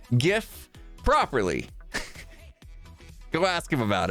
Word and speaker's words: GIF: for the hundred bits jif no gif is an acronym g is for graphics it's how it's pronounced